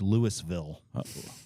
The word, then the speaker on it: Louisville: we need to say that word properly it's Louisville lville lville Lille it's Louisville they almost say